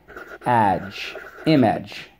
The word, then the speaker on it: image: Image. Don't forget to dot your I. We have 2 things to mark up. Underline the G and the silent E twice.